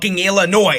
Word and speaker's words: Illinois: it's Illinois if you can't realize that the S is silent you shouldn't be talking I literally Googled Illinois